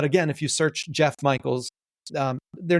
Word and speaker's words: Mikels: So my name is Jeff Mikels. The last name is spelled like the word Mike, M-I-K-E, with an L-S attached on the end.